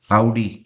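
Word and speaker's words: Audi: कई लोग इसको ऑडी बोलते हैं, बट ऑडी इसका सही प्रोनाउंसिएशन नहीं है। इसका सही प्रोनाउंसिएशन है आउडी।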